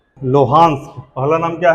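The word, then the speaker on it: Luhansk: Belarus, Donbas, हाँ very good, ये नाम है लोहांस्क।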